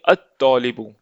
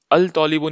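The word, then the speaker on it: الطالب: तौलिबुन यानी स्टूडेंट, तो हम बोलेंगे अत्तौलिबु, अल तौलिबु नहीं पढ़ेंगे, है ना।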